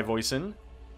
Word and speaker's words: Voisin: So we are going to be joined by Voisin. Is that how you say it? Yeah, it's neighbor, but in French.